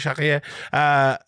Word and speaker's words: Chartier: And, Mark Raimondi tweeted out that his coach at Chartier, I'm going to give him the French pronunciation as well, like Chartier, kept him out of the gym for a couple of months after that beatdown by Max Holloway.